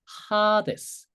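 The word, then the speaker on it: ᾍδης: 그래서 하데스 하데스 이거를 재문자였을 때 하데스 이렇게 표기해요. 그니까 이렇게 써 있지만 하데스라고 읽어야 돼요.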